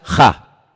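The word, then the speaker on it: הַ: En hebreo solamente hay un artículo, no hay él, no hay la, hay uno solo. Se pronuncia ja, solamente hay uno.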